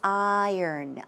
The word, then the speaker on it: iron: It's not iron, it's iron, iron.